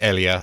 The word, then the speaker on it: Elia: It says Elijah, but in German it's Elia, apparently.